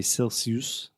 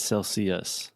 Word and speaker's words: Celsius: Just one thing, Alexia, you pronounced it correctly right now, but a lot of my students I've heard say Celsius, but it's Celsius. With the schwa sound at the end.